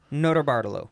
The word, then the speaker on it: Notarbartolo: Leonardo Notarbartolo. Yeah, there you go. Say it like a Utah, no T's. Yeah, Nota. At this point, Bartolo.